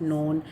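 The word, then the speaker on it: known: के बाद एन है, तो के साइलेंट हो गया। तो यहाँ पे इसको नाइफ और नोन पढ़ा जाएगा, इसको कनाइफ या कनोन नहीं पढ़ा जाता।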